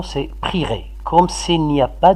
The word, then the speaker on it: prierai: Faites attention, la bonne prononciation, c'est prierai.